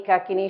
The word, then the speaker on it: Kakini: In realtà io un po' italianizzato, qui si dovrebbe dire Dakini, Rakini, Lakini, Kakini, Shakini, Rakini e Yakini. E poi quando parlo italiano mi confondo anch'io, lo dico all'italiana, ma è l'ultimo accento è sull'ultima.